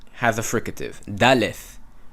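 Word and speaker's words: דלת: Daleth has a fricative. Daleth, and not dalet.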